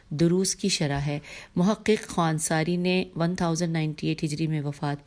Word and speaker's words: خوانساری: 26 number پہ نام ہے آقا حسین ہجے کرتی ہوں. خے واو الف نون سین الف رے چھوٹی ہے. خوان ساری معروف بمحقق خوان ساری.